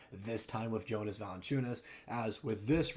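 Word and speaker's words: Valančiūnas: I got it right this time with Jonas Valanciunas.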